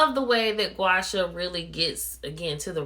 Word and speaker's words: Gua Sha: Gua Sha, that's how you pronounce it. A lot of people see the word and they're like, well, how do you even pronounce that? It's pronounced Gua Sha.